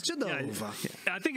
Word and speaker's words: Genova: Genova. If you can tell. It's Genova.